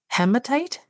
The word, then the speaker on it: hematite: Okay, one is going to be malachite, and the other one is going to be hematite. Hematite. Is that how you pronounce that?